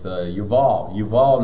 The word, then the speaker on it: Yuval: It's in English, it's Jubal, so it's Yuval Noah Harari.